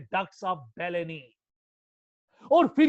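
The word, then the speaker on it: Bellini: या बेटा अगर आप दूसरी भाषा में लोगे, कुछ लोग इसको कहते हैं डक्ट्स ऑफ बुलनी, मगर बेटा अगर आप इटैलिक प्रोनाउंसिएशन में जाएंगे, क्योंकि इटालियन साइंटिस्ट था, तो हम कहेंगे बेलेनी।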